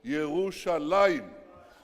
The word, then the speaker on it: Yerushalayim: It says, it doesn't say Jerusalem, it says Yerushalayim.